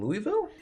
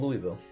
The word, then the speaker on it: Louisville: I know but it's it is spelled Louisville it probably was originally called Louisville but once the evolution of accents and dialect and everything else happens end up being Louisville Louisville is only like